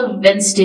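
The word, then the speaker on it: Wednesday: blue it वाज अ वेनसडे morning वेनसडे का D silent है वी ऑल गट अप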